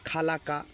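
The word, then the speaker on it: خلق: সবাই বলছেন এটা কি খলাকা খলাকা খর উচ্চারণ হবে কাফের উচ্চারণে কোন বাড়া হবে না কোন এখানে গুন্না হবে না দেখেন সুন্দর করে মানে স্পষ্ট করে আমরা বলে দেবো খলাকা খলাকা তারপরে দেখেন ইদে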